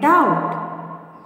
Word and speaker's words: doubt: Second one, doubt. Here the silent letter is B. You want to circle the letter B.